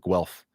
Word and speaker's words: Guelph: Super Apple Flap says, how do you pronounce Guelph? Like Guelph.